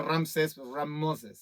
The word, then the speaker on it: Ramsés: un faraón Ramsés es Ramos es ramses se pronuncia Ramsés era un nombre era un nombre común en